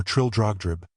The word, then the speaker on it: Trildrogdrib: It contained a warrant for conducting me and my retinue to Traldragdub or Trildrogdrib, for it is pronounced both ways as near as I can remember, by a party of 10 horse.